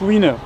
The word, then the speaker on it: Wina: On prononce Winner en anglais, mais on a écrit Wina en swahili.